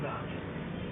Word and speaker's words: Bach: So, junior course, Gary Bach. Gary Bach. Gary Bach. Yeah. You know, the composer of Bach. Yeah. Well, that's how you say it.